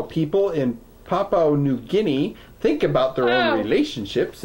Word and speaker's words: New Guinea: Meanwhile, Nim funded a study to ascertain how people in Papa New Guinea think about their own relationships in the real world world. New Jinny. New Guinea.